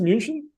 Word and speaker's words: München: Is it pronounced München? Is that the Yeah. German? München.